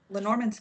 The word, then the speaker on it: Lenormand: Lenormand cards.